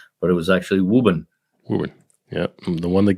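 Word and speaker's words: Woburn: b r n which somebody would have said wurn but it was actually wuben Wu yeah the one that gets my wife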